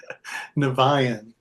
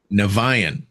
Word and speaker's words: Niviane: should start off the interview with the proper pronunciation of the band name sure naan naan there's a story there I'll I'll I I'll